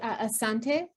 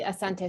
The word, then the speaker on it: asante: do you say thank you it would be asante and then very much would be asante sana okay and moodle how do you say